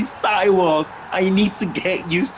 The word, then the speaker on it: Seiwald: I keep calling him Seawold, but it's actually Seiwald.